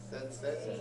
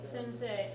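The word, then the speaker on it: 先生: of run together and it's more of an a sound than an e sound sense okay but again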